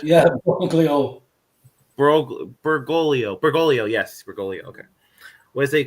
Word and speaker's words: Bergoglio: the man previously known as Cardinal George Mario Borgelli. I'm probably pronouncing it terribly wrong. My apologies. Borglio, you said? Yeah, Borglio. Bergoglio, yes, Bergoglio.